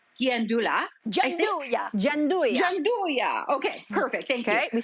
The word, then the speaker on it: Gianduja: So when I saw, help me with this pronunciation, guys. This chocolate liqueur from Bottega, it's called Gianduja. Gianduja.